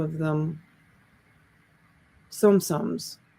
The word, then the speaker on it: Tsum Tsum: name of them some sums i guess the t is silent i think it's sum